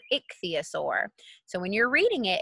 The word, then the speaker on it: ichthyosaur: like syllables someone's like she's put them in two syllables it'd be a sore and put them together Ixia sore so when you're reading